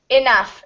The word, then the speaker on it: enough: yes so right here enough yeah this word the GH sounds like an F so it will be